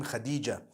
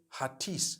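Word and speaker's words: Hatice: it you know I came across the name Khadijah in Turkish some people spell it h a t i c e I would say hatis for that no it's actually Khadija in Turkish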